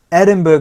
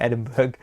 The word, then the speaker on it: Edinburgh: Edinburgh Festival, or Edinburgh Festival. I keep calling it Edinburgh, like iceberg, because it's so cold.